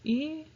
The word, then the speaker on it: examen: Technically, we do in a way, but phonetically, the way you would get it is EKSAMEN.